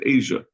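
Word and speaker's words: אסיא: It's referring to these other places, Ardiska, Asya, and Aspamia. Asya is Asia. I know that because I have a brother-in-law whose last name is Asya, and we pronounce it in English Asia.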